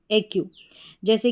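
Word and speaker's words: accuse: फिर दूसरी स्पेलिंग देखें, यहाँ पर ACCU, एक्यू हो गया, एक्यू, और SE, एस के बाद में ई है इसलिए एस को स नहीं पढ़ा, ज पढ़ा, ज पढ़ेंगे, एक्यूज़, क्या पढ़ा, एक्यूज़।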